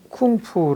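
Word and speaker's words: 功夫: 하고 요렇게 쓰기도 해요 이게 중국 발음으로 쿵푸 라고 하죠 쿵푸 하면 여기요 패를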